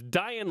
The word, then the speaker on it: Dayan: pronounced Dian right yeah it's like Ryan with a d like Ryan with a